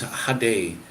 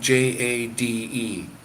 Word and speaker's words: Jade: day her name was hade uh yeah and it's spelled j-a-d-e uh J sounds like an Hade and I couldn't figure that out because it to me that's Jade and I have a